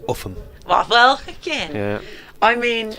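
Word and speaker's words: Ulgham: It's spelt Oldham. Yes. And it's pronounced Uffham.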